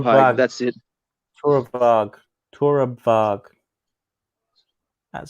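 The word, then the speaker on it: Torabhaig: I think the Bicky, Torabhag, Torabag, that's it. Torabag. That sounds Yeah, see, reasonably pronounced.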